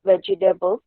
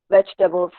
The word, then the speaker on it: vegetables: Now the next is, again, this, if you go according to the spelling, it will come out to 4 syllables, that is vegetables, but it's only 3 syllables, which means vegetables, vegetable.